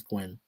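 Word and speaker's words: Nguyen: I I know some pronounce it New Yan, but he says Gwyn, so I'll just say Dustin Tree Gwyn.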